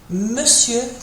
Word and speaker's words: monsieur: Monsieur can be tricky to pronounce. Doesn't look really like how it's spelled. So monsieur.